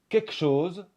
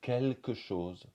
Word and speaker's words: quelque chose: du salon on va dire souvent quelque chose au lieu de quelque chose quelque chose mais là